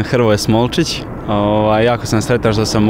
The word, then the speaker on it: Hrvoje Smolčić: How do we pronounce it right? Pozdrav svima, ja sam Hrvoje Smolčić.